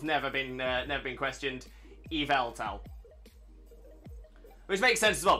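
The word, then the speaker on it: Yveltal: Incorrect and he's aware that's incorrect um yeah yavel towel is ridiculous it doesn't make sense it doesn't make sense now it's spelled it makes sense that it's pronounced doesn't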